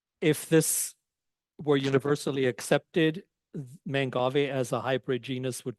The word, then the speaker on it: Mangave: it becomes mangave and that's why it's pronounced mangave not manave I have heard people